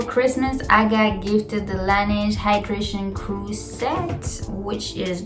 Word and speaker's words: Laneige: So if you don't already know of Laneige, well, first it's pronounced Laneige and it means the snow in French. It's supposed to be separate, like la and then neige, because it's 2 different words, but I don't know why they put it together.